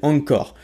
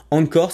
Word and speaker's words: Anchor: te permet précisément de faire ça ça s'appelle angcore angcore ça s'écrit a n C H o r al